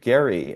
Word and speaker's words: Gerry: chat that is Elbridge Gary and yes his name is actually pronounced with a hard G he drew this District